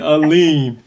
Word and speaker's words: Alleyne: welcome and if you notice we haven't been pronouncing your last name because we get dr dwayne alim right did i say it right yes he